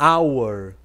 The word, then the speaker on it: hour: hora minuto e segundo Ok hora é o our our Ok hora our minuto-a-minuto quase igual os